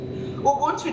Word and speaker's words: Ubuntu: It's spelled U-B-U-N-T-U.